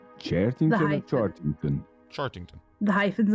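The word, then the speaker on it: Chearting-ton: t i n g hyphen t o n charington charington charington The Hyphen is important if you spell it without the The Hyphen you actually end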